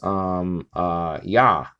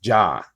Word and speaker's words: Yah: Like I said before, it's found in the sort of shortcut version of the Tetragrammaton, which is Yah. Okay, sometimes even pronounced Jah, and it's in Job's name actually.